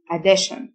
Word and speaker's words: addition: إضافة addition، T-I-O-N تنطق شن، addition.